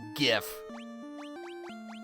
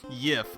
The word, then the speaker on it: GIF: supposed to be pronounced is it with a hard G or a soft G because I genuinely do